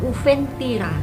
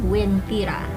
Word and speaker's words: Wentira: Namun karena pelafalan huruf U-nya ini tidak terbaca, akhirnya masyarakat setempat terbiasa menyebutnya dengan Wentira.